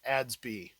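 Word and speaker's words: ADS-B: leave home without them in aviation it's typically pronounced adsby this is all hand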